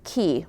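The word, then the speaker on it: qi: That word is key, which is Q-I, pronounced K-E-Y.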